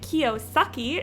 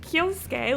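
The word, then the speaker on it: Kiyosuke: voice actors say it we didn't pronounce it wrong like we didn't say Kiyosaki instead of kyosuke like we said it correctly you just said it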